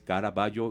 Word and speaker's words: Caraballo: de de apellido Caraballo, un apellido que por lo menos a mí aquí no se dice eso, pero a mí me suena como italiano, como ese caraballo con doble G, como un doble G, como el pintor. Ajá. Pero aquí es caraballo y con doble L.